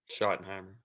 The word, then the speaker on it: Schottenheimer: Schottenheimer.